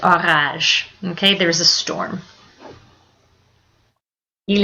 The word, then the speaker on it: orage: Careful when you spell that. Orage. is not an orange. It's orage.